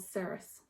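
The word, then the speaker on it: Ceres: on for account and it's called saris i think that's what how you pronounce it c-e-r-e-s but i absolutely love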